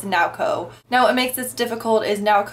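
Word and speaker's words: Naoko: with a girl that I originally had pronounced her name is now go but apparently it's now Co now it makes this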